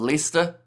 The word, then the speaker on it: Leicester: What rhymes with Lester? Um, pester.